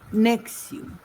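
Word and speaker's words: NXIVM: con ese nombre que el nombre es N. X B M y se pronuncia nexium.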